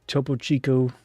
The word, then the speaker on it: Topo Chico: Here's the topo chico. Well, Chico. Yeah. One more time. Here's the It's a Topo Chico. I keep saying it wrong. Chico, right?